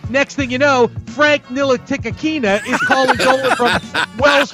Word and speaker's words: Ntilikina: Frank Ntilikina is his name. I know why James Dolan did this. Not quite, but it was close. What? Ntilikina? Tilikina. Ntilikina? Oh, the N is silent.